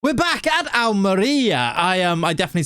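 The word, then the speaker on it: Almería: We're back at Almeria. I definitely said that wrong last. I was saying Almeria. To be fair, I did Google it and it said Almeria. I was wrong.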